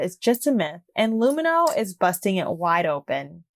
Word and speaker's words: Lumineux: Turns out the fact that all bacteria are bad is just a myth, and Lumineux is busting it wide open.